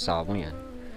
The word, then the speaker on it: Samhain: Properly pronounced Samhain.